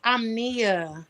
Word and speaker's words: Omnia: want to make sure, because I don't think I've ever heard the official pronunciation of your name. It's Omnia. Omnia. Okay. But you Yeah. know, I allow, and it still resonates. A lot of people from Baltimore say Omnia. Omnia, right. So You it's know, Omnia. it's Omnia.